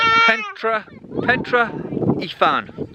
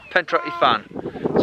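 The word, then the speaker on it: Pentre Ifan: So we've arrived at it, and it's called Pentra Ifan. That's how I've looked it up, how it's pronounced. Pentra Ifan.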